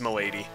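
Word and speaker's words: Melady: cold hey mobius welcome is melody supposed to be sound similar to my lady apparently i don't know like the spelling to me looks like it would be melody but it's apparently pronounced milady i don't really care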